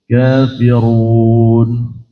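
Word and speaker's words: كافرون: Sedangkan kafirun bacaannya Imam Asim riwayat Hafz itu harus ditebalkan kafirun.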